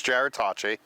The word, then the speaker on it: Jarrod Tocci: I'm my name is Jared Tachi uh and shamelessly promote yourself okay thank you um it spelled like Gerard but j-a-r-o-d-t-o-c-c-i um I run a